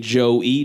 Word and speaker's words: Joe-E: whack to me, but I came up with the rap name Joe-E, J-O-E, because I was like, oh, it sounds the same.